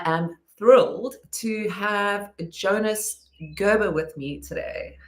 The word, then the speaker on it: Gerber: Habber. Um Gerber is how is how we pronounce it, how I pronounce it.